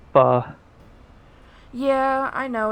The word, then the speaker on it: pho: Apparently, I was talking to the guys from the other community, and it's not pronounced foe, it's pho.